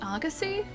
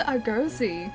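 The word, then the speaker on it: Argosy: It's pronounced Agassy. I've always pronounced Argoi. Agassy. I have to change that.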